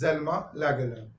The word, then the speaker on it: Selma Lagerlöf: Now, Selma Lagerlöf, generally pronounced as Zelma Lagerlöf.